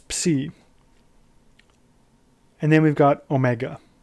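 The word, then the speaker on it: ω: And then we've got omega. Omega sounds like a long O, as in logo, or the word no.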